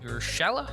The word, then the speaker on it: Urshela: Urshela?